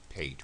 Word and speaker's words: pate: I think it's pate, right? I think. And not pate, as I erroneously said before.